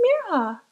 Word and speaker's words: Mira: couldn't say it right they stretched out the eye until it sounded like an e and their R sounded wrong some people forgot the H hey Mina Miriam hey